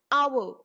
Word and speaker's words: hour: for example an hour in this word our h is silent and the word is starting with the sound o that's why that is